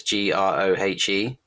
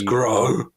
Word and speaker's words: Grohe: It's Grohe, but in my head I read it as grow.